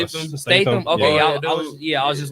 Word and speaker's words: Statham: Like, when you see how you say his last name, Jason Stratham. Is that how you say it? Statham. Statham.